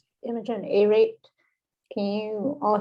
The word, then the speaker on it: Imogen: up your name could you tell us the pronunciation of your name imogen imogen a a-rate can you all hear me okay